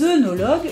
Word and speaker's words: œnologue: C'est sûrement sous l'influence de œuf, qui s'écrit lui O-E-U-F, que l'on a envie de prononcer à tort E. Or, regardez ce mot. Comment le prononce-t-on ? Ben oui, fœtus ! Eh oui ! Parce que O, E dans l'eau, se prononce E.